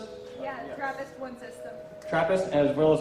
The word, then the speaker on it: TRAPPIST: Is that how you pronounce it? Yeah, TRAPPIST-1 system.